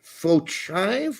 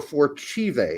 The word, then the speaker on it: Fochive: George Fochive or Forchive. I've heard his name pronounced two different ways. I've heard both ways.